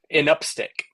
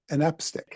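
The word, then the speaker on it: anapestic: Anapastic. Anapastic. So think of like an and then upstick. An upstick.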